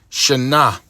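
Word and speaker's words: שָׁנָה: Shana. Shana. Okay, sound like you pronounced it correctly. Shana, which is as a year, as a division of time.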